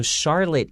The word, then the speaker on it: Charlotte: a charlotte chandelier so charlotte even though it starts with ch and traditionally it has a ch sound and this situation is pronounced like an s sound okay so charlotte is